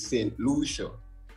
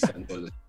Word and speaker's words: Santa Lucia: But some people think it's Saint Lucia, but it's Santa Lucia.